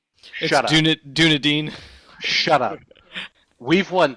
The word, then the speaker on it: Dunedin: I'm pretty sure it's pronounced Dunedin. Shut up. Dunedin.